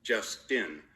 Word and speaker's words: Justine: she corrected my pronunciation justtin like and ren Tin Tin woof she practiced panting